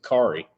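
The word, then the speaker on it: Khary: say it it's k h a r y Cari is it Cary so okay Cy Adams Jordan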